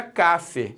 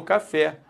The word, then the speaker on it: café: fosse o fé eu falaria Cafe e não café Pô eu quero por favor eu quero por favor um café não quero um café eu quero um café Então se o fé é